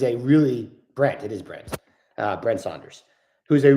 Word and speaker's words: Brent: Is it Brett Saunders? I think it might be Brett Saunders. I always get his name confused. Who is a really Brent? It is Brent.